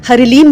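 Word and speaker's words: ह्लीं: की बात करें तो मां का बीज मंत्र हलीम है और लीम और हरि लीम भी इसको बोला जाता है दोनों ही प्रोनंसिएशन सही है हर लीम जो उच्चारण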